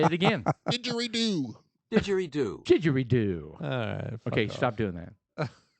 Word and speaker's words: didgeridoo: to find the thing this isn't pronounced did you redo didgeridoo there we go he nailed that with